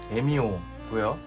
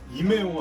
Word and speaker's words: EMEO: 이름은 에미오고요. 이메오 아니에요? 이게 한국에 정식 수입이 지금 안 되고 있기 때문에 한국에서 정식으로 에미오라고 할지 이메오라고 할지 아무도 몰라요. 근데 외국 영상들을 보면 발음을 에미오라고 하길래 일단은 에미오라고 하겠습니다.